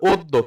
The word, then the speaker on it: অদ্য: একটু type mistake হইছে তাহলে ওদ্যর উচ্চারণটা কি হবে ও ধাক্ট লাগছে আর যুক্ত বর্ণের অটা যেন শেষে গিয়ে কি হয়ে যায় ভাইয়া ওকার হয়ে যায় তাহলে কি হবে অদ্য কি হবে অদ্য এখানে